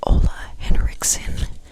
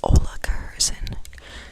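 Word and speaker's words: Ola Henriksen: I definitely said this name wrong before, by the way. It's Ola Henriken, but I always say Ola Kursen.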